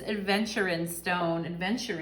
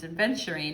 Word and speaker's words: Aventurine: Pile number 3, if you chose this Aventurine stone, I always say it wrong, it's Aventurine.